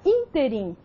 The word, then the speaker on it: ínterim: Na palavra ínterim, a sílaba que se destacou foi a antepenúltima sílaba, in.